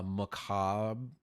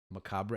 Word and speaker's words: macabre: Lively it is a Macabre I don't know is that how you pronounce it um it's it's Macabre I don't think you pronounce the bread um but yet hopeful